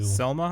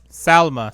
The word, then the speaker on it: Salma: and delmar delma hayek i'm saying it wrong too selma hayek yeah selma selma thank you blue you're my best today give her a microphone everybody salma salman salma hyatt yeah so anyway